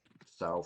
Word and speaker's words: Sow: Sow fading. Yeah, I say sow. I know there's some discussion on how to pronounce it. It rhymes with wow, right?